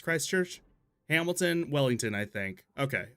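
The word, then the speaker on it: Christchurch: It's not Chris Church. It's Christ Church.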